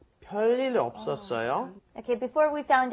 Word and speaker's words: 별일: You're not saying 별일. It looks like you're saying 별일 없었어요, but no. You're going to pronounce it as if there was two lils there, lil and lil connecting, so it's going to be a long L.